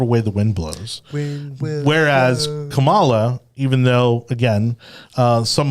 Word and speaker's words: Kamala: with Camelot people continually how do you say your name Pamela no no Kamala yeah I've heard it multiple ways I don't really know I'm pretty sure it's Kamala I'm gonna say Kamala okay yes it's Kamala